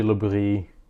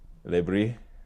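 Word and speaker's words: Le Bris: I guess his name is there's a French pronunciation. Um Lis something like that. Yeah. Reggie Libri. Lebri.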